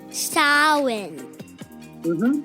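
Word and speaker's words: Samhain: a m h a i n but it's pronounced sa mhm that's that's true and that lasts from October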